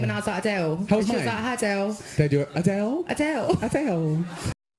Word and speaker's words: Adele: name and I was Adele They Do It Adele Adele Adele it sounds like Adele but she means a Dale like Chippendale Adele Adele Adele no